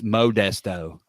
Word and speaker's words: Modesto: oh you definitely did everyone knows it's Modesto you got real stretched out that first o oh yeah no that